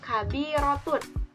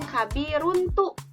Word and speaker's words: kabirotun: Ta marbutoh, kemudian tanda bacanya yaitu domah tain menjadi kabirotun. Jadi bukan kabiruntu ataupun kabiruntun misalnya, karena kan ustazah katanya ditambah dengan ta marbutoh, tapi bukan gitu ya. Itu kurang tepat.